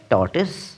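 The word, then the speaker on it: tortoise: অনেকেই এটির উচ্চারণ করে টরটয়েস। যেটি ভুল। এর সঠিক উচ্চারণটি হবে টস। কি?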